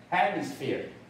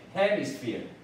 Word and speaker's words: hemisphere: 那这个呢？Hemisphere, hemisphere 啊，hemisphere 这 e r e 念 ear, hemisphere 啊，应该是念 hemisphere, hemisphere.